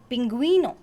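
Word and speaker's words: pingüino: after the word derecis when the letter g is followed by the dares is e or deres's eye you will pronounce a strong g and the two following vowels for example g there is e as in aguero aguero g there is his eye as in pingueno pinguino so that's all for today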